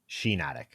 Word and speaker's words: Shiinotic: Shiinotic. Like shiitake. Like shiitake. Oh, really? Yeah. I thought it was spelled the same way, 2 eyes. I thought it was Shiinotic. I think I did too, and then I realized one day I was like, wait, it's like the mushroom.